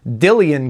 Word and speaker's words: Dillion: into very closely they also make guitars for dillian guitars in the usa i believe i'm pronouncing that right d-i-l-l-i-o-n dillian and their guitars